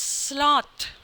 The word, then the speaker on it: sloth: And so as to know how dangerous is sloth. So I have added two rhyming words. One is quest, it is rhymed with request, and another is sloth, which is rhyming with path.